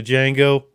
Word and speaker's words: Django: candy and uh um the Django the D is silent I keep thinking at